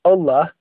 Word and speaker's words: Allah: Okay, so just so you know, they believe that the Quran was completely 100% written by Allah, or sometimes you hear it pronounced Allah.